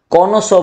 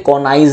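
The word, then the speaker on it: connoisseur: था तभी याद है कोनो सो बोलते हैं कोनाइज नहीं बोलना कनसो नेक्स्ट अ मैन हु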